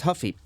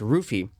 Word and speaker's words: Ruffy: And yes, it's not pronounced Huffy. It's actually pronounced Ruffy because while in Portuguese you pronounce the R with an H sound like you know you do with Shogun Ha, right?